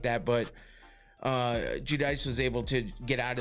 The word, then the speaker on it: Judice: with this one, but Carly Judice is uh Judice, I they kept saying Judice, so I guess that's how you say it.